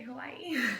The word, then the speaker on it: Hawaii: And I like how you say Hawaii. Hawaii, that's how you say it. Hawaii. You put the emphasis on the last I. That's how you're supposed to say it.